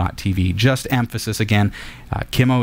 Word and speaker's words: Qimo: TV just emphasis again Kemo is spelled q m o and you go to